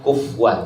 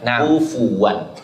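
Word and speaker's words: كُفُوًا: Kebanyakan kesalahan terjadi ee sebagian ada yang membacanya kufan. Jadi fanya itu disukunkan akan tetapi harus didamahkan kufuan.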